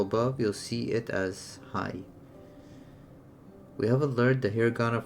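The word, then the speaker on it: はい: The word hi is actually pronounced as hai.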